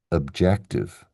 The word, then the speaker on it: objective: based on the spelling, the stress is supposed to be on the second syllable. So we say objective. Objective. Notice how that first syllable syllable becomes an ob. That's schwah at work.